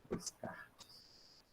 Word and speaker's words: Descartes: Mas a gente lê Descartes, né? Descartes. Mas lê Descartes. A gente não pronuncia esse S, não.